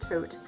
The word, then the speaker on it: Thoth: a the toast deck a lot of people pronounce that thought but I to my chagrin learned that it's properly pronounced coat a few months ago if you follow me